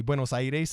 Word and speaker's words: Buenos Aires: South America and then once I pronounce the city correctly Buenos Aires instead of swinging Buenos Aires you know if you actually say buenos I taste then that's when they